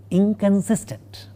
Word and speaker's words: inconsistent: You will find that the nasal part of the negative prefix in the word inconsistent is a velar nasal, not a dental nasal, and it is totally unlike how it is written.